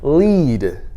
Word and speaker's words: lead: See, lead is an irregular word because it doesn't follow the usual rules of English, where EA usually makes an E sound, but in lead it makes an E sound, right?